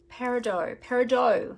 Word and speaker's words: Peridot: I don't think you pronounce the T, do you? Peridot.